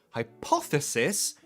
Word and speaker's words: hypothesis: um check the spelling hyp hypothetical hypothetical stress the the hypothetical and then hypothesis the stress oh you've just said yeah the stress is on a different syllable here hypothetical hypothesis stress